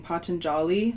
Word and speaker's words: Patanjali: a meditative practice, with the, what's his name, Patanjali, so that's how you say it, the 3 elements, which included physical exercise, breath, and spiritual contemplation.